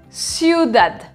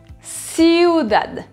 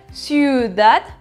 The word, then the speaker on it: ciudad: son avec le chu le eu un espagnol se prononce toujours ou comme aux usa en france et donc pas exemple dans les mots ciudad ciudad ne faut surtout pas dire sud at messi ou dad un